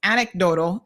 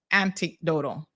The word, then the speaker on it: anecdotal: says where is Soka it's anecdotal not anti-anti antidotal oh Lord y'all are